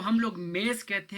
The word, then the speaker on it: mesa: लिखा हुआ है, तो जो एस है वो ज़्यादातर जेड की आवाज़ प्रोनाउंस करता है, ठीक है, पुर्तगीज़ में। इसी तरह आप ऊपर भी देखें, ये जो मेज़ा लिखा हुआ है MESA, तो एस जो है वो जेड की आवाज़ दे रहा है, प्रोनाउंस कर रहा है।